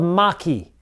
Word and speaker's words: maqui: It's called maqui, like it's pronounced M-A-K-E-Y.